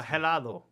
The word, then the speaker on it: helado: Now, helado. Helado. You don't want to Helado. say, yeah, that H is silent.